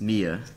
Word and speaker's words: Mia: Do not let that man influence your pronunciation. It is not Maya. It is not Maya. That is very different. It's Mia.